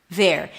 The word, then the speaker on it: they're: They are, there. And yes, it sounds like there as in their company or over there. All three words are pronounced the same.